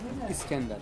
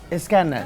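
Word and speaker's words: İskender: How would you pronounce this name again? Iskender. Iskender.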